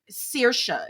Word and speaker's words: Saoirse: I know that's how her Saoirse is how you say her name. Saoirse Rowan or whatever, but it's pronounced like, or said like, spelled like SAO,